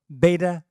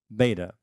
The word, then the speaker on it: beta: cerebral cortex because of beta brainwave activity. Beta. Over in England and South Africa, it's beta. That's a fish. No, I'm just kidding. Either pronunciation is correct.